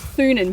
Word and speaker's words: Thunen: So my surname is it's Thunen, but it's Dutch, and if you pronounce it as like how it should be pronounced in Dutch, it's Tonen.